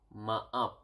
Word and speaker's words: maaf: Sorry is maaf.